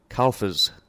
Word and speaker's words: Carlfors: Carlfors.